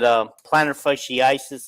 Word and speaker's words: plantar fasciitis: 2 bad knees, what do you call it, plantar fasciitis, or how do you say that?